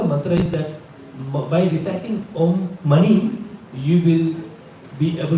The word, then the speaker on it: Om: This mantra, Om is body, speech and mind. जिसे हम Om कहते हैं ना, it's actually not the right pronunciation. It is Om.